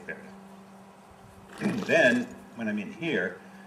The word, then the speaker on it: färdig: Färdig.